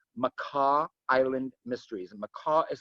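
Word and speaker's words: Makah: And Macaw is spelled M-A-K-A-H.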